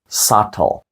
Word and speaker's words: subtle: ви прочитаєте п'яте слово sutle тут знову ж таки літера B і знову ж таки вона глуха вона не вимовляється не subtle а subtle sutle означає тонкий або